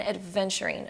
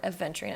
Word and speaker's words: aventurine: rose quartz, scolecite, and adventurine, or aventurine. I always pronounce it with a D as if it's like adventure, but it's not that at all.